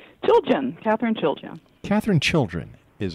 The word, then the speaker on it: Chiljan: Did I say it right, Katherine? Chiljan. Chiljan. Chiljan. Yeah. All right. Chiljan. Chiljan, right. Chilly in January.